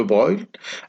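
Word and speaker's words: Broglie: l'hypothèse de breuil bon ça s'écrit deux gros gris mais ça se parle ans de brouille a donné naissance à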